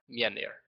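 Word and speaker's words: Mjenir: How do you spell it? Mir. Uh MJ E N I R. Maneir.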